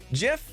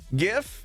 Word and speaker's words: GIF: for the hundred bits jif no gif is an acronym g is for graphics it's how it's pronounced